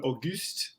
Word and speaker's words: Auguste: sure i'm getting yeah so it's august the haitian way auguste but a goose i love it no no